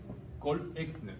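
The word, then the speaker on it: Call-Exner: A estos espacios se les llama también los espacios de Cole-Exner. Cole-Exner, se escribe C-A-L-L, Exner.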